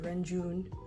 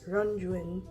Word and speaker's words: Renjun: his last name because if you just read it in English it's like renjun but it's ranjuin so it's I am